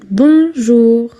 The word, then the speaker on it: Bonjour: Bonjour.